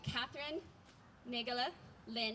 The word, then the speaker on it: Katherine Naegele-Lin: And today you get trees and music together in one, all thanks to Katherine Naegele-Lin.